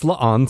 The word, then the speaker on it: La'an: Just like Pike would be the one telling everybody, no, that is La'an Smith. Yeah. Say it right. All right. Anything else? Lon Smith is so funny.